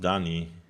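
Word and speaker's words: D'ni: I think this is pronounced Dani. It's usually a silent D.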